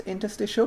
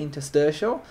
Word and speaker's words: interstitial: It is pronounced interstitial, but I've heard people say interstitial.